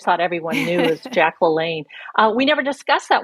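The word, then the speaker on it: LaLanne: the audio is that she mispronounces one name Jack she calls him jack Lon and he's Jack laain and every American knows that so it's without fail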